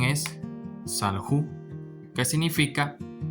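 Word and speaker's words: סָלְחוּ: Y aquí la pronunciación es salju, que significa perdonaron, es decir, ellos perdonaron.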